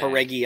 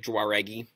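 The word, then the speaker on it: Jauregui: I like the way you say her last name because you do not say it the way it looks. Oh, how do you say it? Haregi. Haregi. Yeah. How does it look? It looks like Juaregi.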